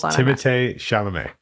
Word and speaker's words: Timothée Chalamet: Don't tell me that's how you pronounce it. Yeah. Wait, are you serious? Yeah. Timotei? He's French. It's Timothée Chalamet.